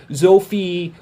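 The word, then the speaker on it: Zoffy: be Ultraman Sophie but because of the Japanese having trouble saying the name Sophie it came out as ultraman's OFI and then since then or Sophie since then it's been minced mispronounced a whole heck of a lot of different ways such as zoffie sophie which is most correct or Duffy or all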